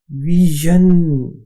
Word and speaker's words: vision: अगला लफ्ज है विजन, VISION, विजन। विजन कहते हैं बिनाई को। अब इसके स्पेलिंग में देखिए एक तो वी और आई